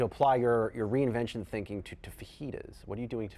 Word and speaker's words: fajitas: It was called fajitas. Yeah. This is how you pronounce fajitas, right?